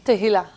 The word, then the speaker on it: Tehila: So, please pronounce your first name for me. Tahila.